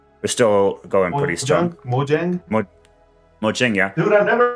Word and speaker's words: Mojang: Mojang? Mojang, yeah. Dude, I've never heard it pronounced like he just did.